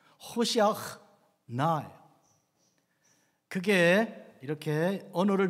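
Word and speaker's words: הושיעה נא: 안나 아도나이 호시아흐 나, 안나 아도나이 하첼리아크 나, 여기에 들어있는 거예요. 앞부분에 있는데요, 호시아흐 나, 이 히브리어 발음이 원래는 이렇게 생겼어요. 호시아흐 나예요.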